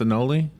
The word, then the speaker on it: anole: probably yeah an anoli that's what you call a n o l e and that's pronounced anoli is that right yeah or no yeah